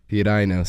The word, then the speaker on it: Piraino: But I guess the traditional pronunciation would be Piraino? Piraino.